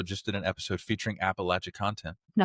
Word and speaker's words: Appalachia: History Class, also just did an episode featuring Appalachia content. Now, see, I got to go listen to that. See, all the cool people are talking about Appalachia stuff, right? Appalachia is it's very it's charmingly spooky, you know.